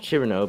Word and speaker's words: Cirno: On account of Chur-no being very difficult to pronounce in Finnish, some have opted to use Sirku, a female Finnish name, instead.